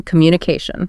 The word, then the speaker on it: communication: Okay, think about words ending in iteration or enation, like information or decision. The stress nearly always falls on the syllable right before that ending. So information, decision, communication.